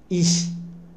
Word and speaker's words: ich: ركزوا على ich. Ich. النطق ديال السليم هو ich.